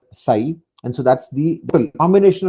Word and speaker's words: psi: The other component of this hydraulic head is the suction head, which is denoted by this Greek letter psi, psi. It's pronounced like psi.